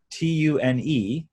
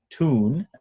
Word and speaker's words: tune: So when you have a word like T-U-N-E, tune, as an American would say, Brits say tune. So they're putting a Y in there.